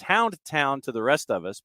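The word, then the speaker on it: Houndtahn: I'm staring at the hashtag I'm sure I'm mispronouncing it back yeah t-a-h-n you know there it's it's Hound it's Hound town to the rest of us but when you're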